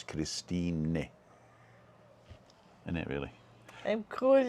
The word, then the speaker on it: Christine: i like christine but the germans they pronounce the e at the end so it's christine in it really i'm